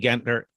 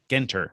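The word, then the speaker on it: JT Genter: may be familiar with j.t gentner uh jt gender genter rather couldn't pronounce the name properly uh wrote for many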